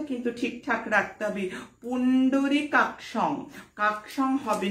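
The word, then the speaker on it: পুণ্ডরীকাক্ষং: পুণ্ডরী কাকসং আছে না, পুণ্ডরী কাকসং, কিন্তু বলেছি একটু আগে সংস্কৃততে যদি উনস্বর শেষে থাকে তাহলে উচ্চারণটা হবে পুণ্ডরী কাকসম, পুণ্ডরী কাকসম।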